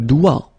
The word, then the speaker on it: doigt: Okay, so don't be frightened by this G because basically you don't pronounce it and then the final T you don't pronounce it. So the only thing you get to pronounce is this combination of three letters, sorry, here, D, O, I, okay? O, I, it's wa and then D, doigt.